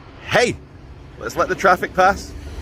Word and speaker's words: Haigh: poshest parts of wigan this town is called hey let's let the traffic pass i'm sure it sounds louder than it does for you guys for me it sounds louder for me but it's pronounced h-a-i-g-h hey there's a hall here and it won some